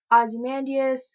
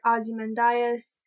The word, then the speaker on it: Ozymandias: I'm going to be reviewing azy mandus or azy mandas either pronunciation is correct so before we get